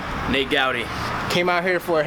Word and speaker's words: Gouty: Nate Gowdy.